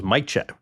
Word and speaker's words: Majchrzak: I thought it was Majchrzak. 3 syllables, right? It's like Majchrzak 1, 2, 1. Oh, don't do this to us.